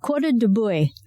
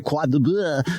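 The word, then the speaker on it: Cuore di bue: It's Coda de Buey. And sadly enough, I have grown this in the past. And it's spelled C-U-O-R-E, that's one word, then D-I is one word, and then B-U-E. I always would say Quad de Buey, but I like yours better. Coda de Buey, I guess.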